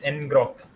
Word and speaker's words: ngrok: Enro NGO NGO. You pronounce it as enrock.